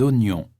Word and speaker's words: oignon: Des oranges, des ananas, des oignons, des aubergines. Attention, on prononce oignon.